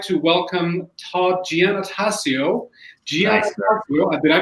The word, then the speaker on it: Giannattasio: So I would like to welcome Todd Giannattasio. Nice. Did I pronounce it correctly, Todd?